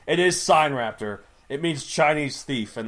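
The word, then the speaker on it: Sinraptor: Which I bet you pronounced Sin Raptor. Well, that's until I figured out exactly how it's pronounced. It is sign raptor.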